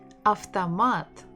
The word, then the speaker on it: автомат: Автомат, автомат, автомат, автомат, автомат. O is not stressed, that's why we say it as A.